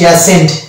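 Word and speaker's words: ascent: তারপর দেখতে পাচ্ছি অ্যাসেন্ট, এখানে দেখতে পাচ্ছি শব্দের মধ্যে আছে ই এবং এসসি, এবং এসসি এর পরে আছে ই, অতএব সি এখানে সাইলেন্ট, এখানে সি সাইলেন্ট হয়ে যাবে এবং এর উচ্চারণ হচ্ছে অ্যাসেন্ট।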